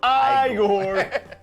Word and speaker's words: Igor: And it's like the whole thing where, like, he meets Igor, and, like, it's pronounced Igor.